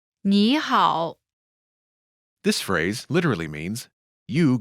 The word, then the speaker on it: 你好: When there are two third tones in a row, the first one changes to the second tone.